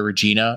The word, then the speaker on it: Regina: and he says like welcome to Regina it rhymes with fun yeah you know and